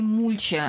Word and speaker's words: мульча: Все-таки мульча, а не мульча, говорит нам Владимир Сметанин, который когда-то делал программу «Домохозяин», зашел и сказал в студию: делайте правильное ударение, да, ставьте правильное ударение. Договорились. Мульча.